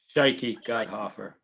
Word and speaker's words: Shikey Gotthoffer: Oh, how do you pronounce that Doug? Shikey Gotthoffer.